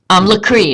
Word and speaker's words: Lacry: If you guys haven't watched Lacry Fine Arts, Lacry is how she pronounces her own name.